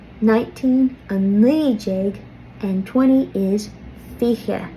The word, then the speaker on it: fiche: 17 a shocked jeg, 18 a hawked jeg, 19 a knee jeg, and 20 is fiche. Fiche. You'll also hear some people pronounce this fiche.